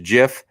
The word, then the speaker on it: GIF: It's pronounced Jif.